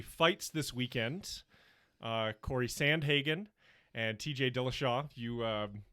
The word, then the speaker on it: Sandhagen: adding i was saying santa hagan i i was saying it almost with like an irish lilt sounded really nice i was using santa hagan my apologies corey for